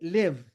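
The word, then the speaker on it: לב: En hebreo, el número 32 se escribe Lamed Bet, que se lee Lev, la palabra hebrea para definir al corazón.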